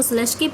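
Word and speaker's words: Slutsky: ये इसमें T silent है, इसको स्लस्की बोला जाता है.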